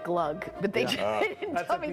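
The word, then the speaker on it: glögg: sweet, rich deliciousness of Glogg before eggnog season. Oh, but it's pronounced more like glug, but they didn't tell me that until the end.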